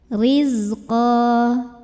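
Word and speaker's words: رِزْقًا: Rizqa, ra-nya dibunyikan secara tarqiq karena barisnya kasrah, bacanya tipis. Riz, nah ini zai punya sifat yang tidak memiliki lawan, namanya sifat sofir, jadi berdesis ya, seperti suara lebah.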